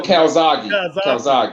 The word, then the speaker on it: Calzaghe: But nah, Joe Kazaki was, how you pronounce his fucking last name? Joe Calzaghe.